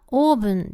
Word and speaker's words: オーブン: The biggest difference between Japanese and English here is how the "ʌvn" sound is pronounced as "オー." While the closest Japanese sound to "ʌ" is "ア," because it's spelled with an "o," it became "オーブン" rather than "アーブン."